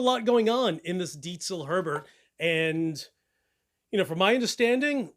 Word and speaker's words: Diezel: The Diezel Herbert, and it is not pronounced Diezel. That is the American version of saying the name of the company, but it is the owner's last name, and it is Diezel. Diezel. Say it with me. Diezel. So whenever someone says, oh, I just got a Diezel, I'm like, did he just say Diezel? Dude, Diezel is spelled with an S. Yo, learn something about vehicles. It's not Diesel. It's Diezel.